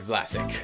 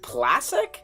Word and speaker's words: Vlasic: Marc-Edouard Vlasic. How can it? Yeah, exactly. That's why he picked it. Yeah. Okay, here we go. Plastic? Vlasic, like the pickles.